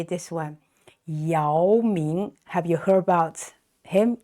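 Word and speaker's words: 姚: NBA who's very tall so this ya not y okay so uh a lot of westeners pronounce this y no not it's ya second tone ya so this is the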